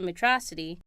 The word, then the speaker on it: Metrocity: Well, Stone takes Astro back to Metrocity. Pronounced Metro City!